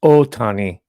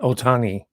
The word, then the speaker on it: Ohtani: If you could see the back, it says Ohtani in kanji, and it is pronounced Ohtani, not Otani.